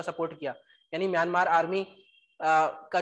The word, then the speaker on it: coup: यार कू है ये, इसे कू कहते हैं, कू, COUP, कू। स्पेलिंग में पी आता है लेकिन बोलते कू है।